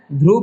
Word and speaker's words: ध्रुव: इसको क्या पढ़ना है, ध्रुव पढ़ना है।